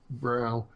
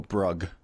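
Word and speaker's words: Brough: Well, as I view it, Brow, that's how you pronounce your name, Brow? It's Bro, but it's, yeah, you did better because a lot of people go Brug. So UGH is silent, yeah.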